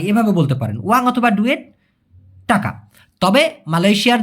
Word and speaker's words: dua: দেখুন, অনেকে বলে যে ভাই ডয়ের উচ্চারণটা কেমন হবে। এই ডয়ের উচ্চারণটা মালয়েশিয়ান ভাষায় সব সময় বলতে গেলে ড এর মতো উচ্চারণ হয়, ডি, যেটা DUA, ডুয়া, দুয়া না কিন্তু, হ্যাঁ, ডুয়া, ডুয়া।